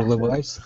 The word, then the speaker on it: Levi's: or Levis or Ah, Levi's? How do you pronounce it? in English we call it Levi's.